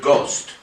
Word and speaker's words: ghost: And he took the Middle English word ghost, G-O-S-T. But it come from Holland. He spelt it with a silent H.